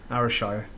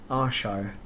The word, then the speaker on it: Ayrshire: Because he grew up in Ayrshire, so that's proper up there. Ayrshire, is it? AYR. I thought it was ARY, Ayrshire.